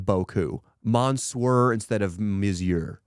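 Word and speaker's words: beaucoup: yeah bow cup instead of Boku monsurer instead of misier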